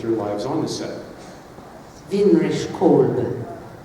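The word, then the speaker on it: Winrich Kolbe: Vinrich Kolbe. That's how you say it. Vinrich Kolbe, German.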